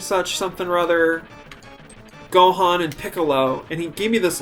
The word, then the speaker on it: Piccolo: antlers and he said oh picoro you know like he pronounced it way better than i could or even still can piccolo you know right and